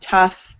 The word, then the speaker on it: tough: So the first sound is uff, the uff sound, like in buff. And words pronounced with uff include tough, rough, and enough.